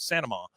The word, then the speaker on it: Saint Amand: Bloody Happy Hour, and Claire Saint Amand, who she is Saint Amand.